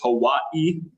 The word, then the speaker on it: Hawaii: It could it could be most people pronounce it as two syllables when it's three. Most people maybe maybe that was it. But but the proper way to pronounce it is Hawaii.